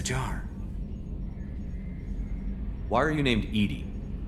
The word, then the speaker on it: EDI: airlock is a jar why are you named Edy Edy is the ftic pronunciation of e di that is an acronym